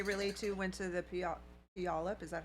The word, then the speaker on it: Puyallup: may we may relate to went to the Puyallup is that how you pronounce that uh it's Puyallup okay that's close it is not pronounced at